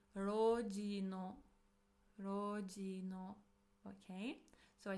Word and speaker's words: の: No. No. So this is a modifying particle. It is pronounced as no and it indicates possession.